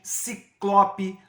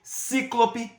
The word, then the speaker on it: ciclope: Por exemplo, considerando a prosódia, existem algumas palavras que comumente são pronunciadas de maneira incorreta, como é o caso de rubrica, recorde, ciclope, nobel. Muitas vezes essas palavras são pronunciadas incorretamente como rúbrica, recorde, cíclope e nobel.